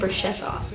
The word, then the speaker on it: bruschetta: I've chosen on Italian, and I'm going to make a pasta and bruschetta. It's pronounced bruschetta.